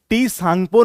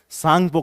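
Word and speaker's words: Tsangpo: सोगम इस तरह से तो तिब्बती जो भाषा होती है उसमें टी जो है आपका साइलेंट होता है तो इसको टी सांगपो नहीं पढ़ते हम इसे केवल क्या कहते हैं सांगपो कहते हैं जैसे हिंदी में भी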